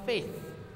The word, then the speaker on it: faith: To test our faith. Faith. F-A-I-T-H. Faith. Faith. pronunciation. Faith. Lidah kena keluar.